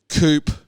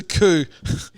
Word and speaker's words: coup: for help uh orchestrated coop on coo i always pronounce the v which it's a coup which is why would